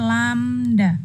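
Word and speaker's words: lambda: gelombang ini dilambangkan dengan lamda bacanya lamda Nia lamda Hai gambarnya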